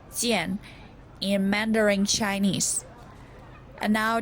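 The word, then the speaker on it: 健: chinese couplet paper the first chinese character is pronounced jian in mandarin chinese and now the second word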